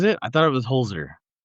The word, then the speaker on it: Holzer: Um, it is pronounced Holtzer. Is it? I thought it was Holzer. No, it's Holtzer.